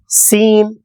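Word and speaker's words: سين: வடிவத்தில் அது எழுதப்படும் அடுத்து சீன் சீன் இதையும் பற்களை மேல் பற்கள் கீழ் பற்களை சேர்த்து வைத்து சீன் சீன் இதைச் சொல்லும்பொழுது விசில் சவுண்டு மாதிரி விசில் ஊதுவது போல் ஒரு சப்தத்தை அங்கு ஏற்படுத்த வேண்டும் சீன் சீன் ஆரம்பத்தில் வந்தால்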